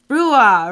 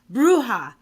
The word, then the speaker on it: bruja: And we have Casey, a photographer and also a set designer, producer, aka she's also known for Laughing Brua, right? Yeah. Am I pronouncing it right? Bruja.